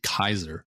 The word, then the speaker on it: Caesar: And even the Latin pronunciation of Caesar is actually Kaiser.